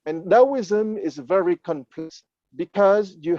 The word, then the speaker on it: Taoism: taoist of taoist because d in pinyin is pronounced like a t and the true exploration